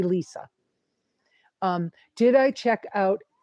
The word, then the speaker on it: Lesa: another question um and my name is spelled l s a it confuses people people but that's how you spell my name LSA and you say Lisa um did I check